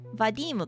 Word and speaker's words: Vadim: Vadim かな名前の発音。Thanks for letting me know.